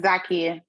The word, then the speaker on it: Zakia: So Zakia, is it Zakia? It's Zakia. Zakia?